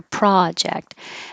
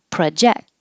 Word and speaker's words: project: And the noun, project, with the stress on the pra and make it longer, project. And the verb, project. Now the pro is a pr, very short, and project.